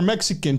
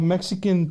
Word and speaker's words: Mexica: Don Cheto, I use the term Chicano or Mexican. Chicano is based off a native North American word, Mexica. The X is pronounced ch or sh.